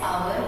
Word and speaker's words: hour: H remains silent and second letter हमारा vowel, इसलिए हम ए एन यूज करेंगे आवर एंड ऑनेस्ट के पहले. ओके, वन एग्जाम्पल है, Gita is dash hour late.